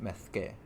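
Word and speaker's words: Mesque: Okay, that's pronounced mezque, as opposed to mesk.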